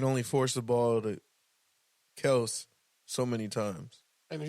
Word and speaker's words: Kelce: Motherfuckers been calling him Travis Kelsey his whole and that's what they said. career. They've been saying it wrong all along. It's actually Kels.